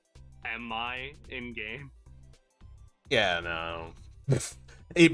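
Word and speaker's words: EMMI: made me realize that the Emmy are constantly mispronounced and I think it's like officially pronounced like am I in game yeah no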